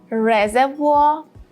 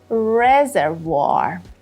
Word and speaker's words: reservoir: the British pronunciation is reservoir reservoir and the American pronunciation is reservoir reservoir two points Point number one the main stress is on the first syllable re yeah you should